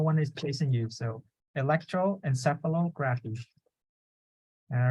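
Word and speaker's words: electroencephalography: yeah electroencephalo graphene see so just break them down so Electro graph e and then encephalo so you put all together Electro encephalography right say that um Electro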